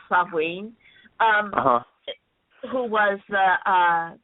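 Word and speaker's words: Samhain: sa which is um it's spelled Sam ha to people still say it like that but it's sain um who was the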